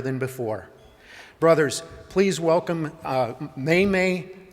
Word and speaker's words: Memme: For the first part, it's like the month of May twice, May.